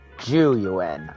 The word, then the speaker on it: Zhu Yuan: with you Wise It's about juu and chingi juu okay so that's how you say it what